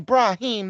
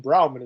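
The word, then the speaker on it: Brahmin: not see this fine Brahim leather on me I'm pretty sure it's pronounced bramman as well partner like Rahim um well while we're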